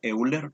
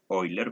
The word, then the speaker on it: Euler: Muchos lo pronuncian como Euler, pero la pronunciación de su apellido es Euler, ¿verdad?